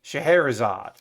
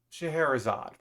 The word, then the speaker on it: Scheherazade: But apparently, it's the Scheherazade, is how you pronounce it. So I was pronouncing it completely wrong in my video. Okay, Scheherazade.